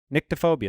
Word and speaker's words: nyctophobia: It's NYCTO, nyctophobia. That's how you pronounce it.